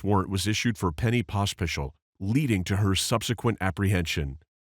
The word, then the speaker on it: Pospisil: Okay, if I don't want to insult you by saying it wrong, but Pospisil. Pospisil? Okay. Sounds like there's an H after the second S.